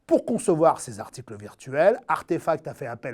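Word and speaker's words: RTFKT: elle vient de racheter rtf cat est prononcée plutôt artefacts une pépite créé début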